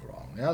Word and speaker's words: wrong: English we still have wrong. So this sort of r must have been perceived as being rather difficult to pronounce, so just leave the first W out.